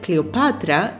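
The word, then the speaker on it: Κλεοπάτρα: name was Cleopatra the seventh cleopatore the name Cleopatra is Greek in origin in Greek it is pronounced Cleopatra it comes from cleos glory and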